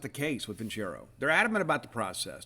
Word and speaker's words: Vincero: That's how you pronounce it, Vincero.